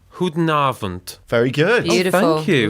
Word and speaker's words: Goedenavond: Goedenavond. Goedenavond. Goedenavond.